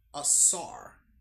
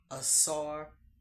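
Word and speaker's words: Asar: Assaar that's how you say it Assar Haru.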